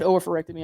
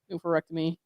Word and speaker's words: oophorectomy: I know I pronounce it oophorectomy. I know some people say it oophorectomy or something like that, and was treated for ovarian cancer.